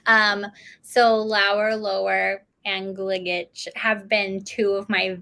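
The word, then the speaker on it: Gligic: up at the pronunciation because it's serbian last name is gligetch thank you um so lower lower and gligage have been two of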